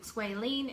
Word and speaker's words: squalene: squalene in it, the one that is plant-based is spelled squalane, L-A-N-E, and the one that is shark liver is L-E-N-E. So squalene and squalene, but they're spelled different.